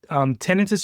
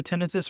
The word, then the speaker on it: tinnitus: So Diane, just to answer, tinnitus, you'll hear tinnitus or tinnitus. They're both accepted pronunciations by the Tinnitus Association.